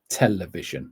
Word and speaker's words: television: Where's the stress? Television. So the stress is on the first syllable.